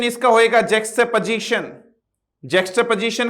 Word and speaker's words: juxtaposition: तो प्रोनाउंसिएशन इसका होएगा जैक्सटेपोजिशन।